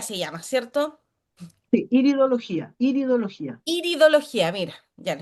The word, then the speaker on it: iridología: El tema del ver el iris, ideología se llama, ¿cierto? Sí, iridología, iridología. Iridología, mira, ya lo estaba Sí, es pronunciando mal.